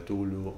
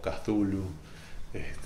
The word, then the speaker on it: Cthulhu: Lovecraft, que sería la llamada de Tulu o Cthulhu, depende quién lo quiera pronunciar.